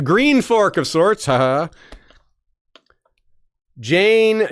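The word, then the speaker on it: Jeyne: Jane. Jane. It rhymes with airplane.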